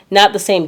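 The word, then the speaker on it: Samhain: is also called um it's spelled Sam Hayne but it's sa so that is also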